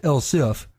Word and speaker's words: elsif: is Els I F still pronounced elsif but this spelled without the e with that we're ready